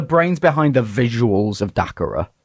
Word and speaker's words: Dacara: Oh, we've got Dacara or Dacaria. We've had so many mispronunciations of the name.